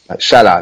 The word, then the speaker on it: Salah: How's his pronounced? Salah.